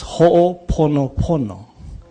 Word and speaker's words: Ho'oponopono: It's Ho'oponopono. Not Ponopono. Yeah? And the doctor is correct because the Hawaiian words have so much meaning that if you pronounce it wrong, it's a totally different context.